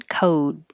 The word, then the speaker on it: code: sound like d d then the vowel will be a tiny bit longer it is a tiny difference but it is something that helps tell the difference number six coat number seven code that's it you will